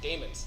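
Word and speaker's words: daemons: you could set up how you pronounce that Damon's thank you I thought that was right I have a friend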